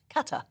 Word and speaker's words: Qatar: Is it Qatar or Qatar? Qatar. Qatar. Qatar. Qatar. So, the emphasis is on the first bit.